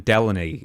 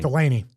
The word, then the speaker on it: Delaney: Uh it kind of be like in the ECW WWE version if Colin Delan or how do you say say his name? Delaney.